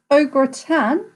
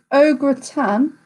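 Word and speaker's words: au gratin: a food is cooked ogre tan what does it contain so that is felt a u g r a t i n o gratin pronunciation is probably a little bit off there but question two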